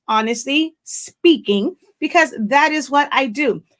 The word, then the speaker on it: Honestly Spinking: is the full name even though it is spelled s-p-i-n-k it is pronounced honestly speaking because that is what